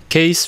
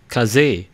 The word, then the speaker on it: Kaze: fans known as the case flex 2. in fact the correct pronunciation is kaze in japanese and in mandarin it's